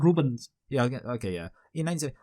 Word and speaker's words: Rubens: Anyway, so in 1970, I bet does it even pronounce the S at the end of Rubens? I can't remember. It's like Rubens.